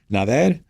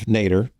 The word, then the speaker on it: Nader: Nadia, Nader, welcome. Thank you. Thanks, Brent. So I gave like the American pronunciation of Nader. You know, I think we'll remember that, but it's closer to Nader.